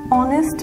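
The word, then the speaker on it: honest: থাকি সে for example an hour এখানে HT silent রয়েছে যার কারণে আমরা এ ব্যবহার না করে এন ব্যবহার করছি এন অনেস্ট ম্যান এখানেও সেম ভাবে HT silent রয়েছে যার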